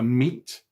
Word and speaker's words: meat: Watch out for meat and great and threat. They rhyme with sweet and straight and debt.